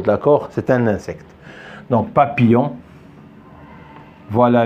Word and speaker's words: papillon: c'est un insecte donc papillon voilà le y le pardon le I et les deux l on la prononcé il y a ils